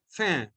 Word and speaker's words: faim: The first word, F-I-N, fin. Fin means end. E-N-D, end. Okay. The next one, F-A-I-M, pronunciation same, fin.